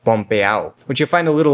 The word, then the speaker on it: pompeao: Pretty much any word you hear in Puerto Rican Spanish that would normally end in an ADO is still spelled that way, but would be pronounced ow. This is most obvious in words that end in ado, ido, and edo, like pompeao, which you'll find a